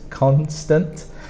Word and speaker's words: constant: Then we have constant with a K sound at the start, not a S, it's a constant.